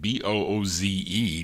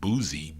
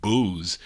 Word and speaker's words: Booze: Bea Booze, I think that's how you say it, Booze, not boozy, Booze, on Decca Records.